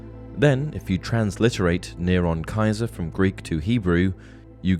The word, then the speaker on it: Caesar: If you write Nero Caesar phonetically in Latin, you get Nero Kaiser, as the C was a hard C.